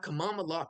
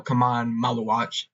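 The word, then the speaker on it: Khaman Maluach: At six, I'm going to have Kamal Lock go to the Chicago Bulls. All right. Uh, pronounced his name completely wrong. His name is common or no, Kaman Malawatch. I said Kamal Lockach.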